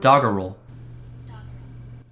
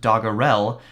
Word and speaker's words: doggerel: doggerel doggerel yes I just checked the pronunciation that is how you pronounce it it spelled do GG e re L looks like it might be pronounced dagger L which makes me think of a dog hand